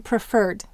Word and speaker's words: preferred: How about in preferred? Preferred. Here the accent is on fur, so we're going to double the Rs.